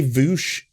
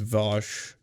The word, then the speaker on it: Vosh: way like i know i know it's pronounced vosh like if someone was like